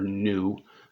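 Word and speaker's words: ν: of swish in there this is not quite a v it's the greek letter nu um so if you were kind of phonetically spelling that it's n u is how you say that the frequency is the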